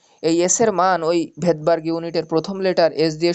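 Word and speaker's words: Svedberg: এক বিজ্ঞানীর নামের প্রথম লেটারের একক, ভেদবার্গ বলা হয়। হ্যাঁ, ভেদবার্গ বানান কি? এস ভি ই ডি, ভেদ বি এ আর জি ই, এরকম ভেদবার্গ। তো ভেদবার্গের মানে যে উচ্চারণটা সেটা এস দিয়ে শুরু হয়।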